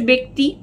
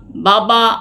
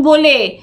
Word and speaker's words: ব্য: ব্যক্তিগুলি আলাদা আলাদা একজন বলে কখনো আকার নেবে না এইটা মনে রাখবে বে এই বে উচ্চারণটাই এটার ব্যা হয় না এটার বে হয় আর ব্যবসা ব্যয় ব্যতীত